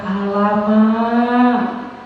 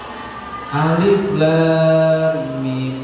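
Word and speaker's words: الم: Baqarah bacanya gimana pasti baca pertamanya alam biasa ya kan hama salah siapa yang bisa menyalahkan itu secara harakat kan bacanya benar alam Yasa benar enggak kalau dibaca seperti itu sudah ada titik sudah ada Har tapi salah enggak bacanya Salah yang benar apa Alif lam mim itu apa ilmu Apa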